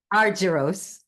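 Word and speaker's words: Argyros: management at Chapman University Ar how do you say that Ellen? Aruros. Aruros College of Business and Economics.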